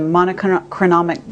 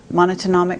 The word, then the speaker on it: monatomic: about manna from heaven, the monochronomic gold. Monatomic, how do you say it? It's the single atom gold, monatomic gold.